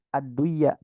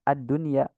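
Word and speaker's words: الدنيا: sukun sama huruf ya Kenapa dibacanya jelas bukan adduya tapi dibacanya addunya sama halnya seperti kalimat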